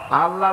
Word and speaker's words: আল্লাহ: আল্লাহ আল্লাহর নাম কি আল্লাহ না কিন্তু মুখটা গোল করে উচ্চারণ করতে হবে সুন্দর করে আল্লাহ বলেন সবাই আল্লাহ দিলসে